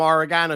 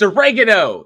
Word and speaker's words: oregano: over and get some oregano she's like you mean aano I was like no no you get a America I'm going get oregano that's what I'm getting it's oregano it's oregano just like lonard put